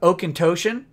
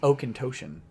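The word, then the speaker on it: Auchentoshan: bought it was uh oak and tocian that's pronounced oh contosion believe it or not because the scottish are weird it says greetings and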